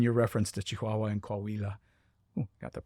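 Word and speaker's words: Coahuila: So that's important for the casual listener to know that in your reference to Chihuahua and Kawila. Got the pronunciation right this time.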